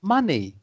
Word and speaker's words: money: I mean, it's pronounced M-U, but it's written M-O for money.